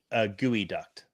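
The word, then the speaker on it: geoduck: And sorry, it's gooey duct. That's the correct pronunciation on that first one.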